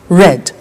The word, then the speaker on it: read: read notice that now read and read are written exactly the same but the pronunciation changes in the past tense read red say said send sent